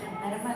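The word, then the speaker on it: Hermès: Herman. Herman katanya dibacanya Herma katanya bukan her.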